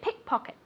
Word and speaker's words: pickpocket: say this very good pickpocket pocket repeat pocket remember that the accent goes in the first word pickpocket on the first syllable pickpock ET review that's